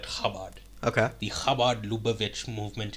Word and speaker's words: Chabad: global headquarters of the so it's written Chabad but I've heard it pronounced habad okay so I don't know I'm just going to call it kabad okay the kabad luich